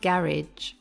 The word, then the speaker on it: garage: boy picked me up the american and british pronunciation are quite different in britain we say garage do you struggle to